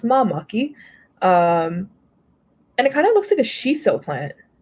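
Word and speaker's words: māmaki: So it's pronounced mamaki.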